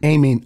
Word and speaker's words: Aiemann: Aiemann Zahabi.